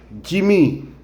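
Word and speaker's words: جيم: Ça ça s'appelle le pron ça c'est Jim Jim comme dire à l'anglais Jam quelqu'un qui s'appelle James même principe un nom en anglais c'est James et puis en français on dit en VO on dit Jimmy Jimmy Jimmy ici on sa qu'on cherche le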